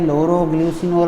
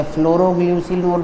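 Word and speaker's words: Phloroglucinol: या फिर लोरोग्ल्यूसिनोल, लोरोग्ल्यूसिनोल, पीएच क्या है? साइलेंट है। लोरोग्ल्यूसिनोल, आप इसे फ्लोरोग्ल्यूसिनोल पढ़ लें, एक ही बात है।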